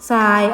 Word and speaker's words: ทราย: ซับ อ่าน ว่า ทรัพย์ ทราย อ่าน ว่า ทราย แทรก อ่าน ว่า แซ่